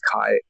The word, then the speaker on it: Kai: The brightest star is pronounced as Yukue. Huh. And if I change that Kue to Japanese English, it's Kai.